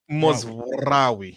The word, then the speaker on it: Mazraoui: Yeah, they all say his name wrong and it pisses me off. Bro, Mazraoui.